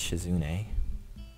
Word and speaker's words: Shizune: and Sh shuni shun I think it's shizune I I think I've been pronouncing it the whole time incorrectly so shizune aren't present